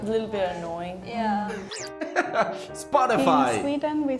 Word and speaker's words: Spotify: be actually pronounced Ines if we pronounce it in finish way it would be spotifu but no one says that we all say Spotify Spotify is very yeah